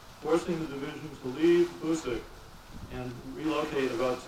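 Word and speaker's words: Boucq: After 6 months of training, the division headquarters was relocated to the town of Bousek, that's spelled B-O-U-C-Q, 34 miles south of Verdun.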